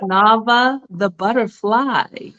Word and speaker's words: NAVAH BUDDAPHLIII: It's NAVAH the butterfly.